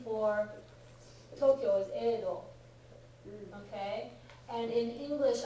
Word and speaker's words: Edo: name for Tokyo is Edo, okay? And in English, I have occasionally seen it spelled as Yedo. Because presumably it used to be pronounced that way 500 years ago or so. It's not anymore, okay?